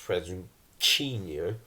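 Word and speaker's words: presuntinho: me brazilian portuguese president actually spelt presentinio but pronounced present yo it means quite literally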